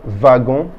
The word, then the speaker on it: wagon: Wagon means a wagon or a rail car in English. Notice that I say wagon. You remember that W is W, so wagon.